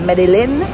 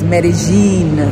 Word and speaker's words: Medellín: very strong accent yes so not medine not medalin medene just like how they say marakuja it's pronounced or it's spelled like maracuya as an